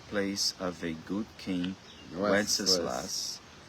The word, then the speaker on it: Wenceslas: of a good king Wenceslas. Good King Wenceslas. Wenceslas. Yeah, Wenceslas, but it's Wenceslas. Why are you saying funny? Because of the song, Good King Wenceslas.